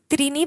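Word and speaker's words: त्रीणि: पद्धतीचे याचा प्रोनन्सिएशन आहे बरीच मुलं त्रिणी पासून गोंधळतात त्रिणीला काहीतरी वेगळं चतवारी तर बघा त्रिणी आणि चत्वारीचा प्रोनन्सिएशन नीट करा आणि याला पंच म्हणतात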